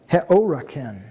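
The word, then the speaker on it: ἑώρακεν: And this is pronounced heoraken. Rough breather. Heoraken.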